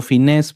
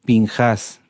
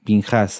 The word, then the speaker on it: Pinjás: está como les decía se traduce como finés pero no es correcto lo correcto es pinjas pinjas así se pronuncia pinjas